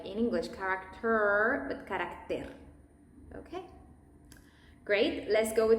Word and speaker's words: carácter: In English, it might sound like character, and that's when the tongue is not that curved in the Spanish pronunciation, it's more flat. Character, carácter. And be aware with the T's, always.